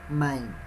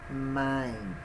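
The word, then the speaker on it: מים: mine es agua no no mein porque aquí se podrían decir se podía pronunciar de tres formas my in my mind entonces correcta pronunciación es main imagine es agua ceder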